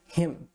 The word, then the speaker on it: him: O I, né? Com aquele sonzinho de E, né? E o M, você vai fechar a boca, tá? Vai ficar him.